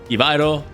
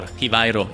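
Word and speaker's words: Givairo: This is Hivairo, or Hivairo, if you want to pronounce it in that way.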